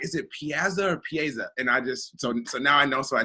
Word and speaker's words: Piazza: Am I saying it right? So can you say it for me real quick? It's Piazza. Piazza.